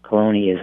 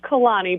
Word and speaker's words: Caloni: how are you excellent am i pronouncing your first name right no it's Kalani but that's okay everybody